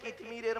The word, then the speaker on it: কিতমির: গণ্য হবে সুবহানাল্লাহ কিন্তু আমাদের জ্ঞান হয়ে গেছে কিতমিরের মত কি বললাম কি বললাম কিতমির কি বললাম বলুন কিতমির বলুন উচ্চারণটা করুন কিতমির কয় হস্বই ত ময় দীর্ঘই